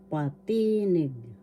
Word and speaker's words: patinig: Inagalog patinig patinig first syllable pa second syllable t third syllable need the accent is in the second syllable patinig patinig that's vowels.